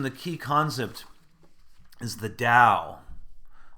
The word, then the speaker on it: Dao: You can see it's spelled a T or a D, and again, I'll probably encourage you to lean more toward the D, as my scholars in Chinese religion say that's more accurate.